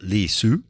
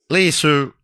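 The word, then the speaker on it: Li Si: Li Su, the PM type guy, Li space S-I is his name, but I think it's pronounced something like Li Su.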